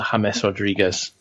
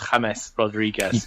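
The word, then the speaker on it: James Rodríguez: And Bryce, I'm glad you embraced the Spanish element there and went from calling him James to James Rodriguez. You got to drop off those Anglophile pronunciations and just get on. It's James Rodriguez.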